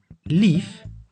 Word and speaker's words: lief: The I as short vowel is pronounced as E and as long vowel as I. Kip means chicken. Lief means lovely.